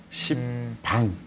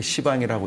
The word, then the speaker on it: 시방: 시방이라고 하는 것은 뭐 있는 그대로 곧대로 읽는다면 열십자, 십방. 네. 근데 이제 이건 부드럽게 시방이라고 읽는 거죠.